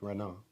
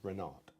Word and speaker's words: Renard: But I would say that's French. So the T is silent. Renard. Rather than Renard.